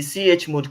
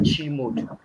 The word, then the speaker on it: chmod: time left okay now let's go to the CH mode command the CH mode command that's where I pronounce it sometimes I I used to pronounce it as g mode the way I pronounce it but it's actually